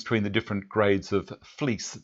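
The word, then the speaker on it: Vlies: the different grades of fleece. That's pronounced fleece, but it's spelt V-L-I-E-S.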